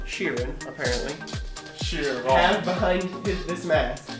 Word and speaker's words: Sheeran: ed sheeran that's how you say his name sheeran apparently sure behind this mask a lipstick b